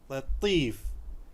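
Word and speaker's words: لطيف: Latif, the T letter here, Tif, T is a little, what do you call, emphasized here, so much heavy. So it is Latif.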